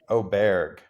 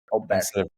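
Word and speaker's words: Åberg: I know it's Oberg. Oberg. Bear. Yeah. Bear. It's like the A with the O at the top of it.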